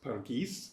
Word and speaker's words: Pargeiys: Pargeiys, stressed on the second syllable because it's in rhyme throughout the verb. That word, paradise, is in rhyme all the way through, rhyming with things like sheath and so on.